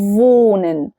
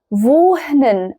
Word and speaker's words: wohnen: في في فالنطق بتاعه فونن فونن تمام دي اول نقطه تاني نقطه في نطق الها الها مش بتتنطق ما ينفعش اقول فوهنن فوهنن هو غلط الهاء لما بتيجي في